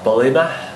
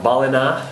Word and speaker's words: Ballina: the morning to you we're in bolina or balina as i pronounce it and we're going